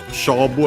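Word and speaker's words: 勝負: Shobu accent on the first syllable if I hadn't mentioned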